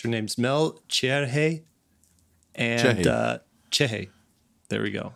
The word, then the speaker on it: Cerri: I want to add like too many syllables to it. Uh-huh. It's spelled C-E-R-R-I. So I wanted to say Cerri, but because I don't have a good Brazilian accent.